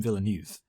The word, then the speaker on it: Villeneuve: I as a habit say his name wrong, and I refuse to change. No, I've always said Villeneuve because, of course, my F1 knowledge allows me to get his name right.